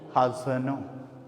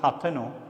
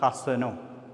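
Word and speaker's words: ܚܬܢܐ: Hasano. Here as dot is given below the tau. That's why the tau is soft. Hasano. Not Hathano, but Hasano.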